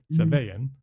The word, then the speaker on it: Savayn: It's Savayan.